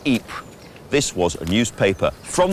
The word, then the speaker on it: Ypres: Wipers being how British troops mispronounced Ypres.